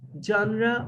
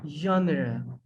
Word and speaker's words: genre: pronunciation of these words because this is french denied word it has a provenance of french that's why we have to pronounce it as genre or genre it means kind of